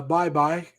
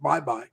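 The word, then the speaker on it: Baybay: Philippines and uh he that he said uh bye bye City or it's spelled baby b-a-y-b-a-y but it's pronounced bye-bye bye bye City that's where his wife is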